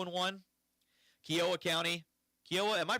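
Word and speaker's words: Kiowa: Kioa County. Kioa. Am I pronouncing that right? Landon Kioa. Kyoa.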